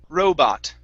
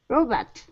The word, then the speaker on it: robot: up is robot robot so stress is at the beginning and it's an o ah row robot robot okay very good and